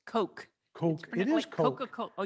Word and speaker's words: Koch: oh yeah Coke it's coke coke it is Coca-Cola oh yeah okay from my hometown so I know them well that's that's about Koch or not Koch is pronounced in their families Coke okay good thank you